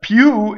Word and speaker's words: più: weak mono syllable but piu is not piu is a strong mono syllable so notice the next